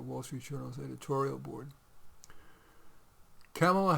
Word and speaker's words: Kamala: Kamala Harris, or Kamala Harris, some people are saying that we need to pronounce it Kamala, plans to roll out her economic priorities in a speech on Friday.